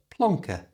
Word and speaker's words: plonker: a native English speaker change the eer at the end to the schah sound that's that little uh sound that's so common in English so it's not plank it's plankk uh and at normal speed plonker you try plonker is